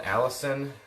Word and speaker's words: allicin: producing a chemical called allicin, not spelled like... Who's Allison? She lives inside the garlic. You're killing her home. It's No! Allicin, allicin.